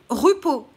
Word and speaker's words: Di Rupo: laurent lui elliott di rupo donc laurent louis elliott ne l ait ôté dit dei rup au r -u p o ensuite réseau coral donc